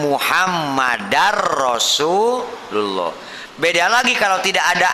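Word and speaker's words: محمدًا رسول الله: anna Muhammadur bacanya Ya jangan wa Ashadu anna Muhammadur Rasulullah salah karena ada Amil nawasib Ana itu Amil nawasib kalau ada Ana sebelum nya berarti Bacanya apa wa Ashadu anna muhammadar rasulullah beda lagi kalau tidak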